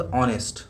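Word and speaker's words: honest: इसका pronunciation ऑनेस्ट होता है। ऑनेस्ट नहीं होता है। कोई बोलेगा एच है तो एच से हा होता है। हा नहीं है। इसमें हा साइलेंट मतलब एच साइलेंट होता है।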